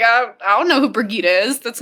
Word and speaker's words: Birgitte: anything so when I saw her name I thought brigit not brigita ah for me it was Bridget when I first read the books I called her Bridget for the longest time even though it's spelled out there that it's not bridg yeah so the first